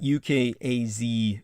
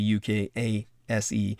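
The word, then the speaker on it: ukase: there we are uh spell it ukaz to make it easier on yourselves uh but it's properly ukas a proclamation of the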